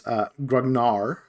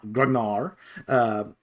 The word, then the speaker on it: grognard: It is Grognard. There is no D on the end of it. Grognard.